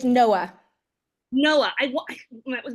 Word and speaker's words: Noa: his name or her name her name it's Noah Noah I want that was my instinct Noah